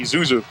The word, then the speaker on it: Zuzu: Number 42 for the Panthers, Tony Zuzu. That's Z-U-Z-U. I'm not pronouncing it wrong.